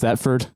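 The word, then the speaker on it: Thetford: I mean, I I guess to me uh I saw some, you know, major headline things about uh is it pronounced Theford?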